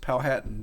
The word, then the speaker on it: Powhatan: So before we started recording, I mispronounced Powhatan. I had pronounced it Powhatan, but so we talk about that's how you always know there's a stranger around.